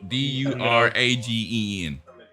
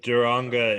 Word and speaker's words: Duranga: I got Duragen. No, Duranga is correct.